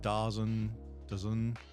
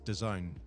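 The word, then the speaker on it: Dazn: the socials somewhere and they said they were getting the players to say how' you pronounced and it's da a ZN and a lot of people were like da daen dozen and it's the Zone that's what it's supposed to be like as in the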